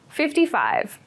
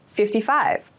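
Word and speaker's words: fifty-five: 44 exams this year 55 55 55 so 55 is the number after 54. make sure to clearly pronounce the 50 so that you don't make a mistake it might sound like 15 if you don't pronounce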